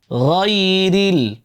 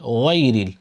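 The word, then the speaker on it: غير: আলাইহিম সিরাতাল্লাযীনা আনআমতা আলাইহিম গায়রিল। এরপরের অংশে চলে যাই। হ্যাঁ, বলেন গাই, গাই। এই গাইন উচ্চারণ করবার সময়ও আমাদের বাংলাদেশে অনেকে ওয়াই বলে, ওয়াইরিল, ওয়াইরিল না।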